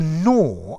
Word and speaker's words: gnaw: answer here vibes to gnaw a dog gnaws on a bone to bite at something notice the pronunciation as in neither nor the g is silent okay so you you've